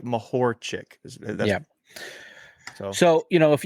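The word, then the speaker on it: Mahorčić: the uh Dallas Maverick um so it's like mahor chick yeah so you know if you if you're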